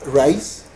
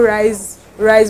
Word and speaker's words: Rise: Your name is Rise or Rishi? It's actually Rishi. It's pronounced Rishi.